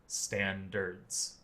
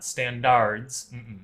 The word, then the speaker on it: standards: Standərds. Standards. Yeah, not "standARHds." Standərds.